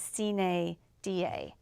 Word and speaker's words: sine die: And so then she texted it to me to pronounce, and it was spelled Sinedia, but it was Sine Da. Is it Latin? It's Latin. Sine Die?